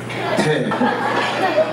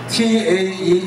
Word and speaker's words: Tae: T-A-E English pronounces Tae, but Tagalog Tae, mabaho.